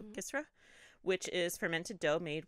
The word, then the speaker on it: kisra: the Sudanese made kisra it's k-i-s-r-a so gisra which is fermented Dough